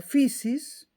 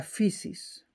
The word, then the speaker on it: physis: La naturaleza se la llamaba physis, P-H-I-Y con tilde, S-I-S.